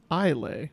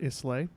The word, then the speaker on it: Islay: the island of isay which is actually pronounced ilay not islay that is also a